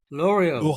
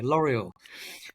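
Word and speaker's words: L'Oréal: I think it's L'Oreal, one of the perfume companies in France, where they had the French L'Oreal. No, we have to pronounce it British way. L'Oreal, and exactly.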